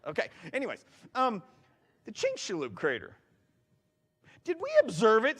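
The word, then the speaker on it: Chicxulub: Near the Yucatan Peninsula, there's a Chinink Shaloo Crater. Yeah, I I had to practice that a lot in my office already. All right. Because it doesn't sound like it's spelled.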